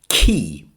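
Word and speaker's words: quay: And the other word is a noun, key. But listen carefully for the spelling, Q-U-A-E, pronounced key.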